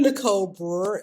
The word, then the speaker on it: Nicole Brewer: I'm Nicole Brewer, and I like to tell people I'm an English teacher by day and travel blogger by night.